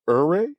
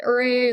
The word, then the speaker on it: Ouray: It's called Ouray. Is that how you pronounce it? Some people call it Ouray. A lot of people call it Ouray.